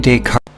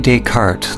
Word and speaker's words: Descartes: Shadows on the civil is famous for the René Descartes.